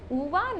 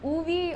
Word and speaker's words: Ove: In this category, I'll start with A Man Called Ove. Yes, it's pronounced as Uva, not Ove or Uvi or whatever.